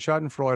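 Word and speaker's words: Schadenfreude: it's a weird um it's not sh schadenfreud's shot and freud i think is how you say it is when you you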